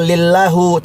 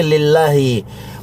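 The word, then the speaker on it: لِلّٰهِ: Bacanya bukan lillahu tapi lillahi.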